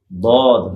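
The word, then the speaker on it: ضاد: দদের উচ্চারণটা কোত্থেকে হবে? জিহ্বার এক পাশ উপরে দাঁতের গোড়ার সাথে লাগবে, জিহ্বার এক পাশ।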